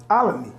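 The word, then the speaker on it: Olney: I'm going to spell a word, and I need you to pronounce this word. Okay? O-L-N-E-Y. Alany.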